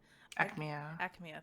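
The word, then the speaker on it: Aechmea: Acmea. Thank you. I was like, how do I say his name again? It's like Acme, like the cartoon company. Yeah, it's like that Acme.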